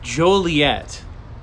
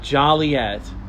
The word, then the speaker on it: Joliet: must say yeah and and it's Joliet Joliet Illinois not Joliet Joliet that's one that uh people get wrong often and let me tell